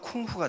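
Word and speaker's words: 功夫: 그러면 요걸 공부를 중발음으로 하면 쿵후가 돼요.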